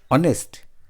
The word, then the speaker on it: honest: blank honest man here honest the first letter H is silent here and it sounds vowel that's why we can use an honest man we should respect